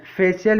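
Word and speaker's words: facial: यदि सी के बाद आई ए आ जाए तो सी का उच्चारण श हो जाता है। उदाहरण से समझते हैं। फेशियल, फेशियल मीन्स होता है चेहरे से संबंधित।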